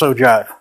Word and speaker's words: ogive: the same ogive so if you know the Roman ogee shape and then you know how to pronounce Oh JA all right so when